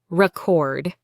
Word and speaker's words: record: Say the word record. Now say it as a noun. Record. Now as a verb. Record. See the difference.